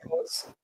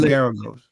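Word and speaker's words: Geragos: How you pronounce it? Related to That's Mark Garagos. Garagos. That's Garagos.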